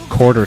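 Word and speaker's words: Korter: Her name is Her name is Quarter Tank, but it's spelled K O R T R. K O R T E R.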